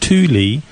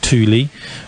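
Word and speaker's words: Thule: it's actually sorry I mispronounced it it's actually pronounced Tuli uh and in fact I think Torin pronounces it Tuli uh if you look at what the Tuli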